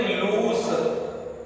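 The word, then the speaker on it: loose: इसको पढ़ते हैं लूज। क्या पढ़ते हैं? लूज। इसको पढ़ते हैं लूस। लूस। दोनों में अंतर है, प्रोनाउंसिएशन का, दोनों में प्रोनाउंसिएशन का अंतर है।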